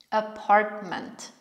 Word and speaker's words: apartment: Apartment. Znowu ty w środku jest ominięte, tak jak w appointments. Układamy aparat mowy tak, jakbyśmy chcieli wypowiedzieć to ty, natomiast nie wypowiadamy. Apartment.